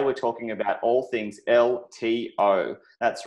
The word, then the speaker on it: LTO: Hey guys, it's BlockchainBrad, and today we're talking about all things LTO. That's right, and if you know about that, it rhymes with workflow as well, and that's because they're bringing business to the blockchain in a serious way.